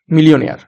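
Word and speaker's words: millionaire: উচ্চারণটা হবে মিলি ও নেয়ার। ঠিক আছে, MILLIO, মিলিও, NAIRE, নেয়ার, মিলিয়নেয়ার।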